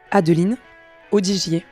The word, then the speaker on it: Adeline Audigier: how beautiful their names are when they are pronounced as they should be uh my name is Patricia Mish and my name is adelene odier joining the two of them is their teammate